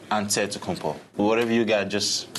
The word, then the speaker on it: Antetokounmpo: in a real way you gotta say with the d so it's a dead compo but in the greek way you say with the nc like antetokounmpo whatever you got just